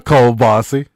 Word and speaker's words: kielbasa: It's kielbasa. The kielbasa. It's kielbasa.